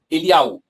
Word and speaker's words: Elial: Elial, não Eliahu, Elial.